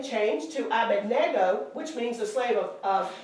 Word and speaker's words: Abednego: We always say, Yeah, everybody says Abednego Everybody But says the N, Bendigo.